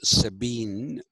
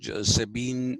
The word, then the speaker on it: Sabine: now this is Led people uh like George Sabine to ask Sabine is written sa a b I ne e